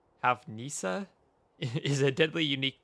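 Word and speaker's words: houfnice: You, the Omega Cannon, the Hufnice. I don't know how to pronounce that. Hufnice? Hufnice? It is Hufnisa.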